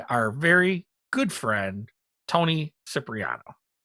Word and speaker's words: Cipriano: These are 3D printed and sculpted by our very good friend, Tony Cipriano. Or as they pronounce it for real, Cipriano. Cipriano.